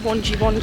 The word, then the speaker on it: Wangi: We actually need to call no, it's actually called Wonji, yes, isn't it? You've been calling we keep it Wangi.